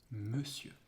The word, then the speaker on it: monsieur: Yeah, because in that word, monsieur, it is not pronounced on. It's monsieur.